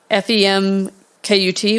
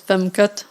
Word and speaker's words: femkut: This translates to say, but now that, and the way it's spelled on there is FEMKUT, which KUT is cunt in Dutch. So it basically says femkut, like femcunt, playing on her name.